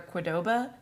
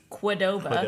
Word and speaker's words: Qdoba: where it was like you were either a Qdoba, which that's how you say it, and I refuse to acknowledge any other pronunciation.